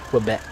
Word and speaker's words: Quebec: I was saying it wrong for a long time. It's Quebec.